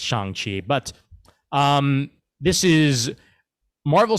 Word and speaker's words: Shang-Chi: a sign of approval we can pronounce it any damn well we please and we're probably going to throughout the course of this movie uh review as we forget that it's chang chi but um this is